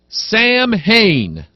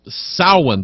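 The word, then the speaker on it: Samhain: get try and see there's a guy Nam Sam Hayne Sam Hayne first time I read that I'm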